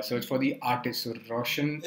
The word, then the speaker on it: Raushan: Okay, Raushan is supposed to be pronounced as Ra. Ra. Yeah, so that's A-U. Yeah, it's not Ro, it's Ra. It's R-O becomes Raushan.